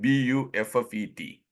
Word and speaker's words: buffet: what is it buet buet it is a French word the t is silent and in France it